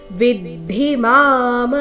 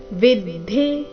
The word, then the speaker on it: ವಿದ್ಧಿ: ಉಚ್ಚಾರಣೆ ನಾಸಿಕವ ರೀತಿ ಉಚ್ಚೈಶ್ರವಸಮಶ್ವಾನ ವಿದ್ಧಿಮಾಮ ಮೃತೋದ್ಭವಂ ವಿದ್ಧಿ ಇಲ್ಲಿ ವಿದ್ ಇಲ್ಲ ವಿದ್ಧಿ ಧಿ ಮಹಾಪ್ರಾಣ ರಸ್ವ ವಿದ್ಧಿಮಾಮೃತೋ ಉದ್ಭವಂ ಐರಾವತಂ ಗಜೇಂದ್ರಾಣ